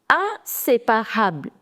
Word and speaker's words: inséparable: You need to break the word and pronounce it. IN is am. Say. Now see, if you have the accent, the forward accent, which is called accent aigu, if you have this accent, the pronunciation is A. So it becomes say.